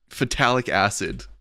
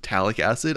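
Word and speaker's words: phthalic acid: Don't think I didn't notice my pronunciation of phtalic acid. I saw that comment where the pH is silent, so it's talic acid.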